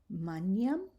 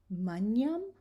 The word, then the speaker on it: magnam: And finally, the G, when it's together with an N, we're going to pronounce it nya, as in canyon. And here's some examples. Agnus, magnam, ignis, magnificat. Say those together. Agnus, magnam, ignis, magnificat.